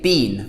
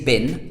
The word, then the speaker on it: been: we in Britain say beam we don't say bin like bi n or B en we say beam we pronounce it beam where have you been